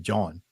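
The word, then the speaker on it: jawn: it's I don't I think it's spelled John it's spelled j a WN John they yeah they they they'll use that as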